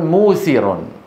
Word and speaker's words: موسر: ايوه سيدي ا رجل موسر موسر اصلها ميسر ميثر من اليسر من اليسر ضد العسر انتبهتوا كيف رجل ميسر والعرب لا لا تنطق ياء ساكنه قبل مضموم فيقلب وها واوا مجانسه للضمه قبلها فيقولون رجل موسر